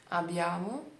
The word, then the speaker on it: abbiamo: Abbiamo, abbiamo ou abbiamo. A correta è con B duplo. Abbiamo. Noi abbiamo fatto una cosa. Fatto, per esempio, fatto, não é fato.